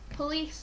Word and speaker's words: police: Police, like I said, it's a magic E word and it's a soft C. So a soft C is when the C makes a S sound rather than a K sound.